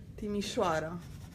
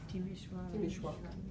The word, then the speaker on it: Timișoara: Timișoara. Timișoara. That was lovely. It has the sh letter that's not in the English alphabet. Sh. It's like an S with a comma underneath. It's sh. Timișoara.